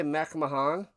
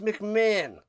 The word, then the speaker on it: McMahon: Did he say Mcahan? It's McMahon.